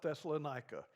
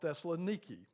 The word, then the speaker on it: Thessaloniki: always reminds us that you don't call it thessalonica it's called Thessaloniki but I've learned that they've